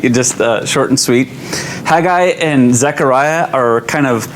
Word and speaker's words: Haggai: to the name but i believe the correct pronunciation is haggai just uh short and sweet haggai and zechariah are kind of partners and contemporaries